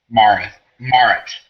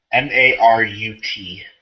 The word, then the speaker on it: Marut: Marith. I'm sorry, Marith. Can you spell it? Marut.